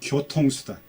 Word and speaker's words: 교통수단: 고통수단이 아니고 교통수단.